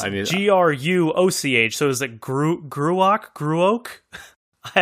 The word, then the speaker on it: Gruoch: It looks like, when I first saw it, I thought it said Grouch. Let me say it again. But it's Gruoch.